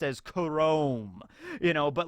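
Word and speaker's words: K-Room: K room stand for and I know it's pronounced as Chrome you know but like K room and then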